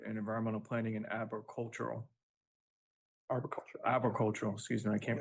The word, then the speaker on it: arboricultural: Arboricultural, excuse me, I can't pronounce that word.